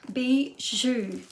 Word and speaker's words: bijou: how to pronounce it it is spelt b i j o u bijou is how it be zhu i did look it